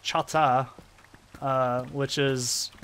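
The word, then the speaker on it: Chahta: uh let's see for the Chaka they're actually pronounced Chata uh which is how you would say it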